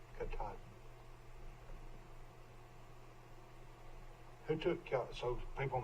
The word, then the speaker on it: Katahdin: That's Mount Katahdin there in the distance.